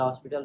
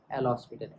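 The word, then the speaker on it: L'Hôpital: डीएल को आप एल हॉस्पिटल rule भी कहते हैं हॉस्पिटल नहीं एल हॉस्पिटल एच को आप साइलेंट रखते हैं तो उसको कहां यूज़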